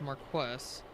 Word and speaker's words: Marquess: American pronunciation is Marquess.